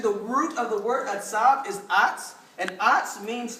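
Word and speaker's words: עצב: It spells out Atzab. Atzab. That's spelled AW-TSAB. Atzab. Everybody say Atzab.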